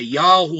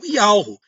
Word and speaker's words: Yahweh: Outros dizem que é Yahweh, outros dizem que é Yahushua, outros dizem que o nome do filho é Yeshua.